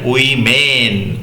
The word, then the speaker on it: women: Next দেখো ওম্যান, ওম্যান থেকে উচ্চারণ হবে উইমেন।